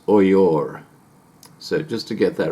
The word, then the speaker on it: Oyo: simply headed up the oil and it's actually pronounced oyor so just to get that right this is oyor i was five going on six years old